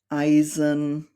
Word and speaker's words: Eisen: and an I, and this combination is always pronounced like the English letter I. We have words like Eimer, Eisen, leicht, feilen, and the